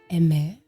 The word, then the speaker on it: Aimer: name correctly he said her name is pronounced in french so emme and this is her